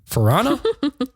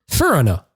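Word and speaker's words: Feranna: Farana? Farana. Farana.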